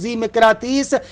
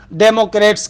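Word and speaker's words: ذیمقراطیس: البتہ میرا تلفظ زیمکراتیس عربی تلفظ ہے، شاید انگلش میں تلفظ ڈیموکریٹس کہتے ہیں، شاید اس کو ڈیموکریٹس کے نام سے بھی کہتے ہیں، لیکن ہم وہی عربی تلفظ کو یہاں پر بیان کرتے ہیں، یعنی زیمکراتیس، ڈیموکریٹس نہیں کہہ رہے.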